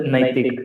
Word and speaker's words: Naitik: Sir, a bit of correction. It is pronounced as Naitik. It is Naitik, okay, sir.